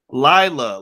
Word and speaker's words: Lila: Did I pronounce Layla right, or It's Lila. Lila.